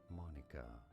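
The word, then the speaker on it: Monika: you say it correctly the pronunciation of monica monica and now you know monica yeah i was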